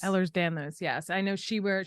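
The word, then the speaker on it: Ehlers-Danlos: daughter's um doctor she has um EDS is Elders how do you say it Elders Ellers Danos Ellers Danos yes I know she wear she has rings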